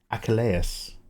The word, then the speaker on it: Achilles: Achilles is pronounced Achelus. A achalas.